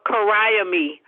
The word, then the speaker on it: Carriemae: It's pronounced by Jaws Kariame.